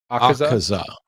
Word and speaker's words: Akaza: Akaza is how it would be pronounced.